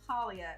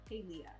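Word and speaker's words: Palia: Talia which I finally it's not pronounced paulia it's pronounced paleo like paleontologist Steve and I aren't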